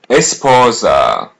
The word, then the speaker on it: esposa: Here's how to say wife. Just listen and repeat. Esposa. Esposa. Repeat part after part. S po. Esposa. Esposa.